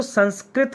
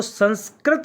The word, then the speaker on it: संस्कृत: जैसे कि अगर आप इसकी स्पेलिंग भी लिखेंगे तो एस ए एन एस के आर आई टी लिखा जाता है ना कि ए टी। क्यों? क्योंकि इसका उच्चारण जो होता है वो संस्कृत होता है।